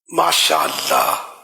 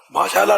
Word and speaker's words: ماشاء اللہ: ماشاء اللہ نہیں ہے نا، ماشاء اللہ، ماشاء اللہ صحیح تلفظ تو یہ ہے نا.